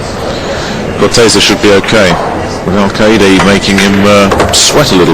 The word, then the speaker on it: Alcaide: I've heard about 15 different pronunciations on the Spaniard's name. I like Alcaide.